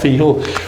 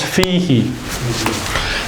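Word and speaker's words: فِيهِ: We can't say fi who. Can we? Have you ever seen fi who written? It's not fi who. What does it become? Fiha. No. It becomes fihi. And it becomes fihi because of the rules of pronunciation.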